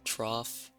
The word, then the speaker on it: trough: Because trough... Never mind, that has an F sound.